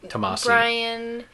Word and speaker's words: Tomasi: And no, Peter it's pronounced Peter J. Tomasi.